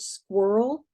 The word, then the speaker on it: squirrel: never written the word squirrel? Squirrel. It's one word, it's one syllable, but it sounds like two syllables, but it started just talking incessantly.